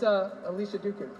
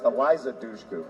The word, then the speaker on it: Eliza Dushku: It's, Alicia Duku. Am I pronouncing that right? I'm not going to give you Alicia Duku. It's Eliza Dushku.